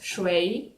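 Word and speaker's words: 水: peut-être mais ça veut dire l'eau ça se prononce choix c'est bientôt retenue j'espère parce que je vais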